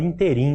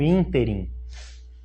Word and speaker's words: ínterim: Essa palavra, muita gente fala interim, né? Mas na gramática ela está prevista como ínterim.